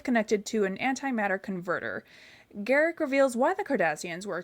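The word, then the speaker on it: Garak: Rashier, thanks to his newfound friend Garrick, rhymes with Derek, overhears the Duros sisters,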